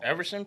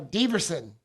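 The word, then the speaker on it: Deiveson: Everson Figueroa, is that it? Yeah, no, Diverson.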